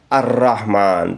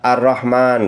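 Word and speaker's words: الرحمن: baca tebal tarkik fauqar arrahman tidak boleh kita baca arrahma arrahman enggak boleh karena di situ pada tasdid arrahimi fauqaro yang berikutnya adalah di kata arrahimi.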